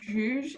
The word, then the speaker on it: Giuge: My surname is pronounced Giuge if you read it, but you're not sure how to pronounce it.